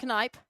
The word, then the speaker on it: Knipe: The name is pronounced Knipe.